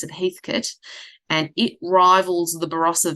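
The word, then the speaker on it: Heathcote: called Heathkit um spelled Heath Coat but we pronounce it Heathkit and it rivals the Barasa Valley for um really big bold um dark reds.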